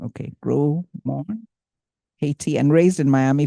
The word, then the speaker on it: Gros-Morne: Gros, it's a silent S, it's the French people's thing. Okay, Gros-Morne, Haiti, and raised in Miami, Florida.